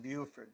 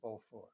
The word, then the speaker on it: Beauford: by the way um if I say Buford and you say surely that should be both for you would be right but in Knoxville where Buford grew up uh the word was PR he pronounced his name Buford so that's what I call him in spite of the fact that when he moved to Paris of course people called him bord it was a miserable